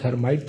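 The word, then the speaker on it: Lhermitte: as Al hermite test us L is silent is called as hermite test in which the patient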